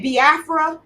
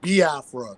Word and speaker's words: Biafra: this this whole situation with the you say bafra am I saying it right I say bafra